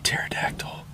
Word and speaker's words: pterodactyl: earth and create misery why can't you hear a pterodactyl going to the bathroom cuz the p is silent because because Ted Cruz